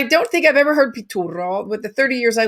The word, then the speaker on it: Piturro: for the most part genevieve pitura uh i know i'm saying that with a very strong italian accent if you'd like to say how you say it in english pituro genevieve yes can you